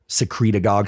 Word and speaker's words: secretagogue: igf1 and growth hormone secretagogue sounds like synagogue but secretagogue stimulates growth